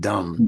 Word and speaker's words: dumb: out after you hear what dumb is D MB silent B that's the key that's the clue silent B if you look at